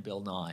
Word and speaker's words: Bill Nighy: Apparently Bill Nighy pronounces his name Bill Nye.